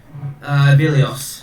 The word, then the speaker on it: Vilios: Vilios. Vilios. Okay. If So it's os, not Os.